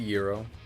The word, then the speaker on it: gyro: I had a gyro or euro or whatever. I don't know how to pronounce it. It's a euro.